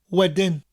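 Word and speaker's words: wedyn: later or afterwards wedding which sounds like the english word wedding as in a wedding that we celebrate with the bride and groom but it's spelt differently w-e-d-y-n wedding wedding another good word is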